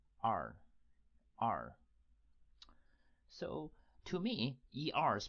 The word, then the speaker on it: 二: e-r e-r like this with a tone on top of the vowel so that is the fourth tone so let's break it